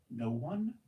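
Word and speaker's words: Noone: "No one?" she asked. "It's pronounced noon," he smiled, "but I answer to both."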